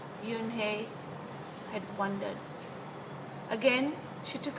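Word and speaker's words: Unhei: scrunching her face up oh nay some kids chanted no no Yoon hey corrected it's spelled u n h e i it's pronounced Yoon hey oh if you hate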